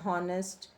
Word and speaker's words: honest: use with r and honest honest uh and because here the h sound is very silent we don't say r